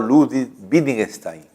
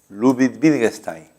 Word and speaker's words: Ludwig Wittgenstein: lógico austriaco, de un matemático austriaco, ¿no?, llamado Ludwig Wittgenstein, que ya lo hemos visto desde el comienzo del curso. Ludwig Wittgenstein, si se puede pronunciar así.